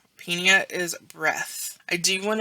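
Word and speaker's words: -pnea: that P sound but if the PN is in the middle of a term you pronounce the p and then the N all right here we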